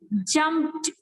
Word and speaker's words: jumped: Jump plus ed. What will be the pronunciation? It is so the ed का sound होगा वो it will be like t. So you will say jumped, jumped, jumped.